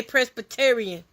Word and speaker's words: Presbyterian: I had trouble pronouncing this word, so let's see how Google says it. I say Presbyterian.